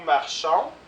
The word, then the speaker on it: marchons: Nous marchons, on ne prononce pas le S.